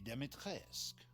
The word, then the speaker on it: Dimitrescu: The first you've already met, the Lady Dimitrescu. Okay, so that's how they Lives pronounce it, deep in a Dimitrescu.